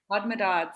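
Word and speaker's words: Hodmedod's: Hodmedots. Hodmedods, exactly.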